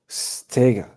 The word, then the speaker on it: Steege: Did I pronounce it? Steege.